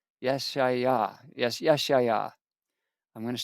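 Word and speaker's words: ישעיהו: Now, the rest of the acts of Uzziah, first and last, did Isaiah And in Hebrew, Isaiah is pronounced Yesha'yahu. Yesha'yahu. Yesha'yahu.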